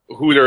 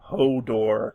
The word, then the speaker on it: Hodor: that reference shame anyway wait you mean Hodor HUD is how I pronounce his name cuz I'm an awful person oh well considering how it actually resolved spoiler alert Hodor is the correct one y Hodor Hodor anyway